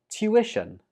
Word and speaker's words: tuition: Tuition. Tuition. Some students pronounce this as tuition, but that's incorrect. Instead, say it like tuition.